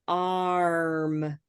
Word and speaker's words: arm: sock exactly so watch arm um so this is my arm arm my arm hurts my R my arm hurts so arm starts at Olive and it moves up to purple R yeah and so